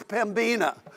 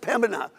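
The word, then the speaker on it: Pembina: before we came here it was pimina and then I so now I finally got it down to Pim and people say we don't even pronounce the b anymore just Pina and so so we're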